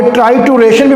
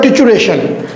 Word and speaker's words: trituration: आगे ट्राइटूरेशन भी पढ़ सकते हैं, लेकिन लफ्ज़ है टिचुरेशन। टिचुरेशन क्या है जी? इट याद रखने के लिए ट्राई TRI, ट्राई TURATI spelling के लिए ट्राइटूरेशन पढ़ सकते हैं, वरना टिचुरेशन लफ्ज़ है।